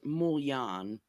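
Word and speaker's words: mulignan: It's like, the Italian American way to pronounce it is, I guess, mouillon.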